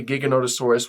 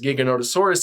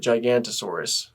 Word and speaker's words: Giganotosaurus: books there was always Giganotosaurus at one page or another and I used to just pronounce it gigantosaurus so there's that anyway